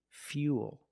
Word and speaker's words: fuel: one's a little different we're going to use the e sound F fuel not fo but fuel we have the same long oo sound after the Y so it's U plus the dark L Fuel fuel not fuel